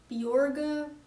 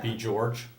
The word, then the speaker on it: Björg: It's supposed to be pronounced Bjorga, but it's too hard for Getting people Americans to say Bjorg. I'm thinking Yeah. Bjorge Oh yeah, I've heard that one a lot.